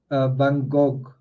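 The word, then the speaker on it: Van Gogh: like that right um in America notes van go that's not how I think van um said his own name um interestingly in France it's pronounced vangog right like that vangog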